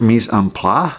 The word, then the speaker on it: mise en place: I think it's pronounced mise en place which means "putting in